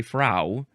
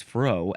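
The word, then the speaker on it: frow: I think you would say fro. You could also maybe say fra, but I think it's fro.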